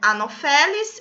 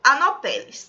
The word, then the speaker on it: Anopheles: Algumas pessoas pronunciam como Anopheles ou Anopheles, tá? Mas a escrita é dessa forma com um PH, tá certo?